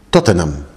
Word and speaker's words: Tottenham: lo llamo pero realmente en inglés no pronunciamos cada sílaba o cada cada letra digamos entonces está escrito como tottenham no ham tottenham pero no hicimos eso tampoco